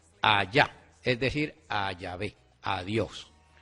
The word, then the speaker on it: Yahvé: ¿Y por qué nosotros decimos que es Yahvé y no Jehová?